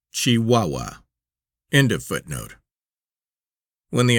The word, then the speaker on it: Chihuahua: Pronounced Chihuahua.